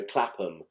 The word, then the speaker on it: Clapham: Now, in England, with towns that end in ham, we tend not to pronounce the H. So Clapham, Birmingham.